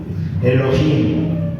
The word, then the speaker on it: Elohim: Elohim. Así se pronunciaba, o así lo pronunciaban los antiguos.